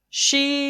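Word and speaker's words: شين: Sheen is pronounced from the middle part of tongue touching the middle part of palate. Shin is pronounced from the middle part of tongue touching the middle part of the palate.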